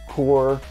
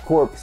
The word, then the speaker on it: Corps: And it came in the mail, and if you guys don't know what this is the Marvel Collector Core, not Corpse, because everyone kept on getting on me for saying Corpse.